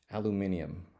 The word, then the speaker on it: aluminium: been really jealous of the British pronunciation of aluminum aluminium I mean my God